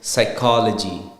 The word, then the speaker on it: psychology: silent it's syphy likewise it's psychology not Psy is becomes s psychology same with siology then Sam S the P there is silent and you go with the S same ways now with